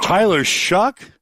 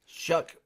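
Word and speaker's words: Tyler Shough: Tyler Shuck. Yep. Maybe this is misspelled on my sh H. S H O U G H Shuck.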